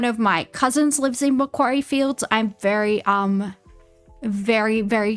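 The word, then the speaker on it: Macquarie Fields: southwest suburb of Did he just call Mcquaryy Fields that How do you How do you get It's a Mcquaryy Fields. It's Mcquaryry Fields.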